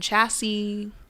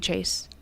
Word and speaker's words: Chayse: I've got Chayse, I've gotten Chasey, I've gotten Chassis, I've gotten Chaz, Cassidy, Casey. I'm like, y'all, it's just like Chase. It just has a Y thrown into it, okay?